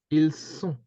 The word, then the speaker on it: ils sont: ils sont. Yeah, Ils sont. ils sont. And I'll cross the T because we can't hear it.